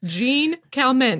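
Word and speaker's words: Jeanne Calment: And I'm going to try to pronounce her name, but I don't know how to pronounce it properly in the French accent. Jean Calment. That's the best I can do. Jean Calment. That's the Americanized version.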